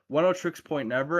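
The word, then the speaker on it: Oneohtrix Point Never: 10 tricks point never. And it's spelled one like o ne o h t r i x.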